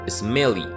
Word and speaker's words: SMLE: por sus siglas SMLE, que en inglés se facilitaba pronunciándolo como Smelly.